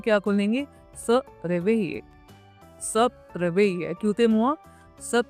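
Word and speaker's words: se réveiller: स रेवेइये।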